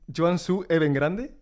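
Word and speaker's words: Guangzhou Evergrande: Sí, imaginaba porque además fuiste al al club más grande de China que es el, a ver si lo pronuncio bien, el Joan Suu Even Grande, puede ser, ¿no?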